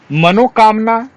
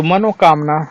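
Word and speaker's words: मनःकामना: भस्मी भूत गलत है मनोकामना बहुत से लोग 99 लोग मनोकामना पूर्ण करें भगवान आपकी मनोकामना पूर्ण करें इस तरह बोलते हैं तो मनोकामना गलत उच्चारण है मनः कामना शुद्ध शब्द है उसी तरह व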